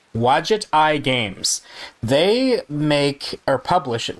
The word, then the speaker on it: Wadjet Eye Games: And I looked this up, how to pronounce it, Wadjet Eye Games.